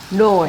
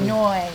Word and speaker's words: Noi: Noi. Noi. N-O-I.